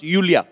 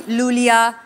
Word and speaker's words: Iulia: यू yes pronounce यूलिया. यूलिया एंड the spellings are आई यू एल आई ए. So I thank God, you know. I mean, why I? Thank God. Everyone is calling me Lulia, Lolia.